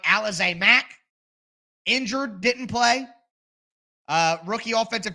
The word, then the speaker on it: Alize Mack: Finally, for the third try, I got the pronunciation of his name right. Alize Mack.